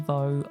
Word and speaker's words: Vaux: you can follow me on LinkedIn as Nicky Vaux, The Boat Princess. Vaux, by the way, is spelled V-A-U-X.